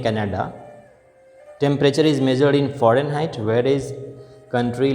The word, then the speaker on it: Fahrenheit: So this is x-axis and y-axis Fahrenheit. Fahrenheit. You know these Fahrenheit. The actual pronunciation is Fahren, and then height.